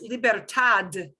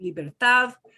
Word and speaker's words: libertad: the stress right away if you pronounce that last word libertad as libertad will somebody understand you well they will but you're going to sound an accident it's a gringo thing